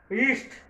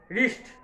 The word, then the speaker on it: wrist: রিস্ট, WRIST, রিস্ট, ডাব্লুটা কিন্তু এখানে silent থাকবে, সাইলেন্ট লেটার হিসেবে থাকবে, হ্যাঁ রিস্ট, উচ্চারণ হবে